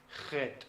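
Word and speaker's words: Het: hebrea para ese sonido no es jota sino que es Head y es un poquito más fuerte se pronuncia Heat es más gutural sí Entonces sí existe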